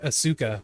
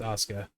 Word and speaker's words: Asuka: It's like Asuka, but it's pronounced Assuka. Not wrong. Osuka.